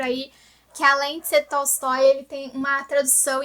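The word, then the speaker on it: Толстой: Inclusive eu aprendi no meu curso de literatura russa que a pronúncia mais próxima seria Tolstói.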